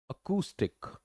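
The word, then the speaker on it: acoustic: right pronunciation is what that is अकुस्टिक अकुस्टिक अकुस्टिक that's the right pronunciation A double O bold लिखा हुआ है इसका मतलब आपका ओकल स्ट्रेस जो है वो ज्यादा होगा और ये अ वाला जो साउंड है ये एक तरह से उल्टा इ होता है इसको च बोला जाता होता है क अ यह वाला साउंड है तो यह आपको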